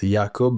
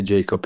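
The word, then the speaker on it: Jakub: So the correct is Yakob, but you can say Jacob if you want to.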